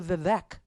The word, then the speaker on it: Vivek: hard part no no it's the Vivek part that's hard because there's an e in it right but they're saying it rhymes with cake the vague and Ron